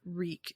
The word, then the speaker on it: Reek: words over it reek reek it rhymes with weak and I put that